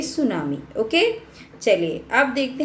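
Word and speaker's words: tsunami: बच्चों सबसे पहले तो ये समझिए, ये टी लगा हुआ है ना जो इसमें सुनामी में, ये साइलेंट है तो आप इसको प्रोनाउंस करेंगे सुनामी।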